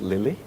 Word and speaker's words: LILLE: For that, we try to pronounce as Lily.